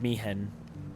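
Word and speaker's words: Maechen: Is it Mihen? How do I Google that? Old man teacher FFX? Ah, oh yeah, it is Mihen, but it's spelled like M-A-E-C-H-E-N.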